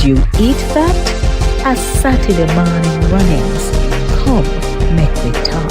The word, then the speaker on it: mawnin: or Saturday Saturday morning morning without the g m a w n